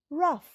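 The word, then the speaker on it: rough: পরেরটায় আর ও Yuji H রাফ এখানেও ও silent তাই জন্য ইউ এর পরে আসছে আর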